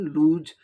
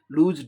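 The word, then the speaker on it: loose: अब यहाँ ये लूज, जनरली लोग लूज, इसका उच्चारण लूज, लूज dress, लूज motion का जॉ से करते हैं उच्चारण, लेकिन सही उच्चारण क्या होता है? लूज, सॉ होता है, लूज मोशन।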